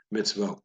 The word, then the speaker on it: mitzvah: pronounced mids vote so a V and then an o sound is how you would say it but typically when you